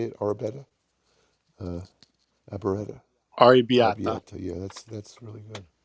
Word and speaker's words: arrabbiata: I recommend the arrabetta. How do you say it? Arrabetta, arrabetta, Arrabbiata.